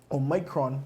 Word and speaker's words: Omicron: surge of cases, and now we see the Omicron, that's how you pronounce it, the Omicron variant of the virus